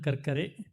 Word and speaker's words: Karkare: Now I spelled it correct, pronounce it correct. This is a brief biodata of Captain Anand Karkare.